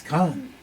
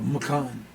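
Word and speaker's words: མཁན: It's Khan. You know, Ken is Khan if you didn't do the vowel changes that Tibetans do. It's Khan or Makan if you pronounce the unpronounced prefix.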